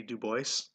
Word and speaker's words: Du Bois: Du Bois. I believe it also could be Du Bois. Again, another one of those French names that could be pronounced either way.